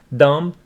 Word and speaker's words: dumb: Dumb. B is not pronounced. B after M is not pronounced.